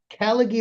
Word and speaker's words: Callaghy: Well, anyway, Tom here is with a company called It's called Caligie. Is that how you pronounce it? Caligie Recovery is the is the company the spin-off uh that exists now.